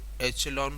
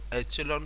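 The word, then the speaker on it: echelon: देखो एचेलॉन form को एचेलन form भी बोलते हैं और इक्वलन फॉर्म भी बोलते हैं, कई बुक्स के अंदर प्रोनाउंसिएशन वेरी करता है पर मोस्ट कॉमन प्रोनाउंसिएशन है एचेलन फॉर्म।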